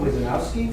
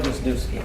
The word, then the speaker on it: Wisniewski: Next person to speak is Wizanowski. Did I pronounce that correctly? Right, Wisniewski.